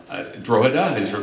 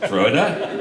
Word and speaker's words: Drogheda: I think as we have four sites now in Ireland, Drogheda, I just learned the G is silent, Drogheda, I learned that this morning, and Dunleary, and two here in Limerick.